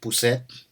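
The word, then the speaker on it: pusit: Even that saw when him and Cup got ate up from the giant squid, the giant poussette. That's how you say it in Ilocano.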